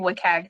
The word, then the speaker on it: WCAG: web content accessibility guidelines it's usually pronounced so we're going to be saying wikag today and this is